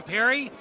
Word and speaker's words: Perry: Hey, Carrie, I'm Perry. Rhymes with your name.